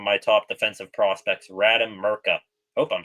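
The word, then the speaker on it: Mrtka: top defensive prospects Radam Murka hope I'm saying his last name right. I've been saying Murka like the T is silent this whole time.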